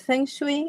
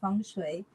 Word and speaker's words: feng shui: so many provinces so there's variations in the pronunciation but fui is the accepted pronunciation in the UK and funu the accepted pronunciation in the United States so we can use